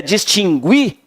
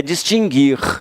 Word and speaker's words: distinguir: Mas o U não tem som, ó, tá? O U não tem som. O U só tem som quando você fala errado. Se você disser distinguir, aí você pronuncia o U, mas está errado essa forma. É distinguir, adquirir e extinguir.